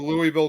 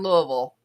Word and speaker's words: Louisville: No, they do not pronounce the S on Louisville.